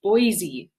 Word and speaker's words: Boise: you very much kathy barton says trishala it's pronounced boise thank you kathy barton um and next time